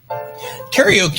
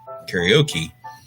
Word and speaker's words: karaoke: Oh, you're a karaoke. That's right. You are a karaoke. Karaoke is another one of those words.